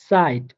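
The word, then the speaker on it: Zeit: বলে থাকবো সেট, অর্থাৎ এই সেটটার উচ্চারণ হবে বাংলা স এর মতো করে, হ্যাঁ খুবই সহজ, বাংলা স এর মতো উচ্চারণ হবে, যেমন সুগ সাইট, অর্থাৎ সেটটা স এর মতো উচ্চারিত হবে।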